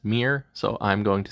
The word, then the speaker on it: Myr: a creature in Magic the Gathering and it's pronounced Mir so I'm going to say fuir uh this